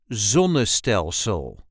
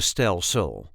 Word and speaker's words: zonnestelsel: This is the way we say zonel. We put the emphasis on the very first syllable. Zel zonel zonel.